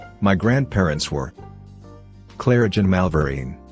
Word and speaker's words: Malverine: My grandparents were Claridge and Malvarine, pronounced Mavurain.